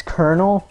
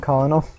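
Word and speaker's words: Colonel: go to Kyoto Square I know it's konel but as a kid I always called them colal I don't know why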